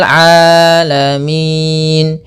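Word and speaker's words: العالمين: Hati-hati jangan sampai merubah huruf ainnya menjadi hamzah. Banyak yang terjadi kesalahan dalam pelafalannya yaitu mengganti dengan alif atau hamzah. Maka dibaca rabbil alamin. Harusnya rabbil a rabbil alamin.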